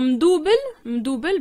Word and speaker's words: mdoubel: Alors, mdoubel, ben, va pas chercher loin. C'est en fait, c'est le mot français, mais qu'on prononce à la marocaine.